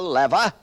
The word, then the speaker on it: lever: The lever, or as some pronounce it, the lever, the inclined plane, the wheel and axle, the screw, the wedge, and the pulley.